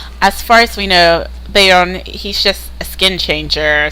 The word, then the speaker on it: Beorn: pronounce some people say beor some people say Bon but um I'm pretty sure it's pronounced Bon but I say beor um but yeah I